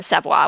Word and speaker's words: Savoie: The it's a personal Loa of the Savoy siblings. Or Savoie would be the actual correct way to pronounce it. I'm anglicizing it.